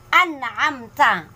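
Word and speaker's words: أنعمت: So ang tamang bigkas is fasayun ghidun, fasayun ghidun, fasayun ghidun. Huwag mo ibibigkas na fasayun kasi mali po 'yun. Dapat na fasayun ghidun kasi siya ay isang idhar. Okay.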